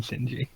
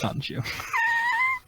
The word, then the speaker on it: Sonju: been saying it wrong the whole time, haven't I? I've been saying Shinji. It's Sanju.